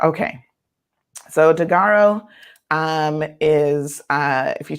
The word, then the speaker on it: Daggaro: the CEO of a company called is it pronounced thear is that the correct Taro yeah dearo okay so dearo um is uh if you check out their